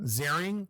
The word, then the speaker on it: Ziering: Ian, or I just found out it's pronounced Ian Ziering.